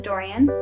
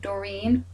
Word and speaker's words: Dorian: everybody my name is Dorian for those of you who would rather pronounce that Doreen or Dorian just call me Dora um so I wanted